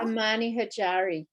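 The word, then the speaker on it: Omani Hojari: It's also known as Oman frankincense, and I can't pronounce this, Omani Hudra. Do you want to pronounce that for me, Michelle? Amani Hajari.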